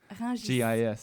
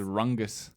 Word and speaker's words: Rungis: Is that how you pronounce it? I've only seen the word Rungis. Rungis. Yeah, I always thought it was Rungus.